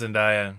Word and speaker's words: Zendaya: I think it's pronounced Zendaya.